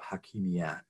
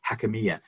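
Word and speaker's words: حاكمية: identity he introduces the idea of hakimiyat or urdu in arabic i'm sure sorry accents wrong there hakamiya and this is a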